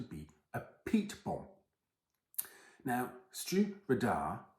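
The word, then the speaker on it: Stiùireadair: a peat bomb now Stu radar which is how you pronounce this hopefully I have that correct I do keep trying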